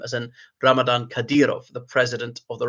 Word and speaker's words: Ramadan: So that is Ramadan.